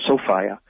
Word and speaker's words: Sophia: as a mythological being sophia that's the woman's name sophia but pronounced sofia and sophia was the